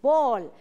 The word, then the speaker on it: ball: en inglés escribimos ball, se escribe ball, pero su sonido es O, es ball, significa bola, tall, alto. Ok, entonces aquí puedes ver, y su pronunciación es ball y tall, pero no te confundas, se escribe con A, pero suena O, ok.